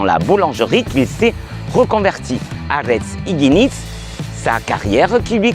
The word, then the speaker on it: Aretz: Aretz. Aretz. On roule le R, on est d'accord?